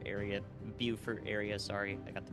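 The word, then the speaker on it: Beaufort: together but you know the Port Royal and Bower area buur area sorry I got the pronunciation now uh is in the line of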